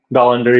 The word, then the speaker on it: Dollander: And how you say it, Dollander? Dollander.